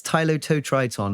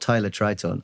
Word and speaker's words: Tylototriton: There's an extra syllable in there. Welcome to my world. Yeah, it's Tylototriton, not Tylotriton.